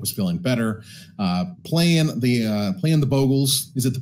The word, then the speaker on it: Bogle: Playing the Bogles. Is it the Boggles or the Bogles? I can never remember. I believe Bogle is the actual pronunciation, but I have always gotten it in my head as Boggle.